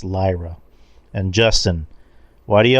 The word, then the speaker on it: Lyra Valkyria: like okay uh Drew why do you always pronounce Lyra valkyria as lra when it's Lyra and Justin why do